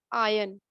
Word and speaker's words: iron: No, the R is silent over there. Iron.